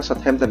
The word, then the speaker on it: Southampton: Sekarang Southampton bukan Soton.